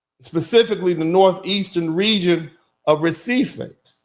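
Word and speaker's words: Recife: the northeastern region of Reie or as they as the Portuguese pronounce it, Hif.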